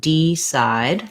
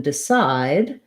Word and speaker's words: decide: say e in these words i don't want d side that would be too much stress the vowel